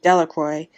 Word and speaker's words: Delacroix: Bobby and Harry Jones and Dickie Delacroix, the villagers pronounced his name Delacroix, eventually made a great